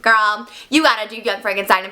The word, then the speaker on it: Frankenstein: The name is pronounced Frankenstein.